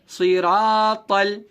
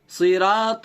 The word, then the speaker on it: صراط: الف سے پہلے را پر زبر ہونے کی وجہ سے الف مدہ ہوگا، الف مدہ کو تھوڑا کھینچ کر پڑھیں گے.